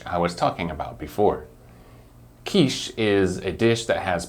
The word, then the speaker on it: quiche: vegetables maybe some meat both Niche and quiche are French loan words so that's why we have to follow the French rules when we pronounce these two words it doesn't sound like the word ditch which is a long hole